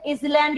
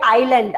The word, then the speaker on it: island: इसको कई बच्चे आइसलैंड या आइसलैंड भी पढ़ते हैं, इस वजह से मैंने क्वेश्चन पूछा। इसमें एस साइलेंट रहेगा और ये है आइलैंड।